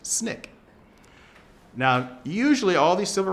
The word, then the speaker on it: SNCC: Stokely Carmichael was the chairperson of the Student Nonviolent Coordinating Committee, which is acronym is pronounced SNCC.